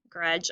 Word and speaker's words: grudge: at my friend grudge grudge also has dippy duck silent in the word so that the magic